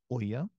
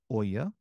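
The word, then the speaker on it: ʻo ia: The okina o with ia is pronounced oya, right? Au, oi, and oya.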